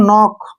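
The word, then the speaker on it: know: नी नी means घुटना के एन ओ डब्लू ठीक है ना एन से पहले के आया इसको छोड़ देंगे इसको पढ़ेंगे नो नो मींस जानना ठीक है ना के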